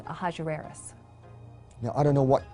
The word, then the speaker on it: Ahasuerus: Well, that was hard for the Jews to pronounce, so they said Ahasuerus. We know him as Ahasuerus.